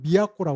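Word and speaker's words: 都: 그런 내용이 또 하나의 신문 독 그 도급도자 도급도자를 일본어 발음으로 미약고라 그래요.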